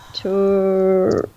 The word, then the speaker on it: Turistas: Just say it how like it's spelled, like this. Turistas.